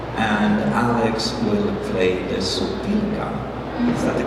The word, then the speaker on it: sopilka: Vora will play the accordion, and Alex will play the sopilka.